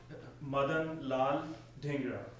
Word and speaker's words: Madan Lal Dhingra: Madan Lal Dhingra.